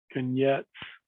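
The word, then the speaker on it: конец: And then this is Russian for, and I think it's Konyets is how to pronounce that, which means we're finished.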